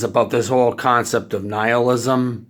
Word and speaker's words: nihilism: this whole concept of nihilism niall ism I'm gonna stick with the first pronunciation even though the second one is the proper pronunciation because it's a bit pretentious but yeah definitely he